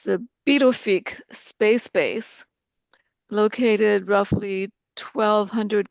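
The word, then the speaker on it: Pituffik: Then in 2016, it was transported to, it's pronounced the Pivnick space base, located roughly 1,200 kilometers above the Arctic Circle.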